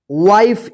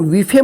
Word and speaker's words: wife: यहां पे देखिए WIFE, इसको क्या पढ़ेंगे, वाइफ, इसको विफे मत पढ़िएगा।